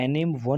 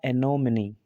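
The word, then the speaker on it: anonymity: ऐसे नहीं पढ़ा जाएगा, एनिम वन नहीं पढ़ा जाएगा। ठीक है, क्योंकि इसका जो प्रोनाउंसिएशन है वो होगा एनोमिनी, एनोमिनी। ठीक है, एनोमिनी ही इसका जो प्रोनाउंसिएशन है वो सही है। जो एंड में ई आ रहा है वो अक्सर हम क्या करते हैं, साइलेंट करते हैं ना, पर यहाँ पर साइलेंट नहीं होगा बल्कि इसको और भी ज़्यादा स्ट्रेस दिया जाएगा और बनेगा एनोमिनी।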